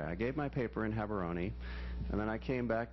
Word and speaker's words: Gaborone: that city there, and there are about 4 different ways to pronounce it, but I think the most authentic is Gaborone, and it's the capital of Botswana.